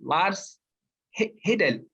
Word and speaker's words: Lars Hedal: This is the Scandinavian version, and today I have the honor of being joined by Lars Hedal.